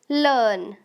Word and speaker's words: learn: इसमें ज़्यादातर आर जो है वो साइलेंट यूज़ किया जाता है। मतलब पूरा साइलेंट भी नहीं, थोड़ा सा यूज़ किया जाता है। जैसे लर्न ऐसा कहते हैं।